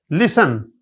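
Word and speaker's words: listen: psychology P silent है लिसन T silent है autumn N silent है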